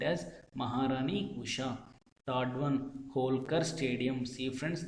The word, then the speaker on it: Holkar: Third one, Holkar Stadium. See friends, the first three letters is HOL. Its pronunciation is Hall.